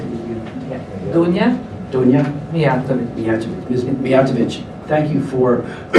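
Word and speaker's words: Dunja Mijatović: Dunja Mijatovic.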